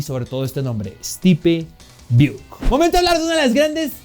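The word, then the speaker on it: Biuk: Vamos a hablar del señor Buuk, no Buik, pero Buuk.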